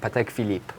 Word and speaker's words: Patek Philippe: also a pretty difficult one to mess up patek philippe yes correct that's perfect super next all right